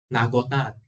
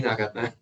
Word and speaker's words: Nagata: Okay, so the first theorem is called the hey, did I copy the name wrong? Nagota or Nagata? Nagota. Nagata. Okay, seriously, Nagata.